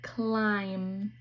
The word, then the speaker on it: climb: The B is silent, it so it still says m, like in climb.